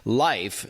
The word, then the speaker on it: Lyf: operations and product at life which is spelled by the way l-y-f welcome to the show